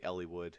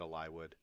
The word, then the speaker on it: Eliwood: him a lie would some people say eliwood it's probably eliwood I said a lie would there's gonna be plenty